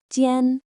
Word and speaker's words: 尖: Its pronunciation is tien.